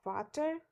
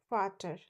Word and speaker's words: Vater: It is always pronounced as V and has the sound of F. For example, der Vater. We cannot pronounce it as der Vater. It is always der Vater, which means the father.